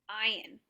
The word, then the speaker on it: ayin: Okay, so ayin is they used to pronounce it from their throat. So it'll be a g sound from the throat.